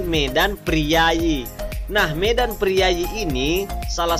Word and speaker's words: Medan Prijaji: menggunakan huruf palawa kemudian contoh selanjutnya yakni Medan prijaji tulisannya seperti itu dan cara membacanya yakni Medan priayi Nah Medan priayi ini